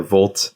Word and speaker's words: vlt: about the name but VT or volt as I like to pronounce it is a net new